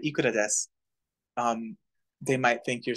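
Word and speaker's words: です: Oh, yeah, I left out the U. It's unpronounced either way. It's silent there. There should be a U after the S and before the K, but it's not pronounced.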